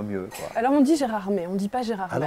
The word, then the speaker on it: Gérardmer: Mais nous, on prononce Gérardmer.